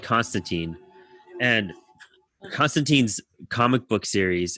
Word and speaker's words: Constantine: people so yeah also it's it's it's it's pronounced constantine but everyone says i mean that's that's what